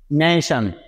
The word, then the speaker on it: nation: তারপরে লক্ষ্য করুন, আবারও আমরা এখানে পেয়ে যাচ্ছি TION, এই চারটি লেটার একসাথে, অর্থাৎ এখানেও কিন্তু তার উচ্চারণ সন এর মতো হবে, তাই না গাইস? তাই নিয়ে নিচ্ছে সন। সুতরাং NA নেই এবং TION মিলে হচ্ছে সন, নেশন, নেশন, নেশন মানে হচ্ছে জাতি, তাই না গাইস?